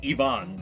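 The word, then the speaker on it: Iván: the proper pronunciation there, a name that is spelled Ivan is pronounced Ivonne because of how Spanish works.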